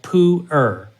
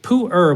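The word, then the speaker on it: Pu'er: can imagine is also a fermented tea called puer that's spelled p u apostrophe e r p r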